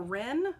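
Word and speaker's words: Ryn: Ryan, or Rin, it's spelled R-Y-N, maybe it's Rin.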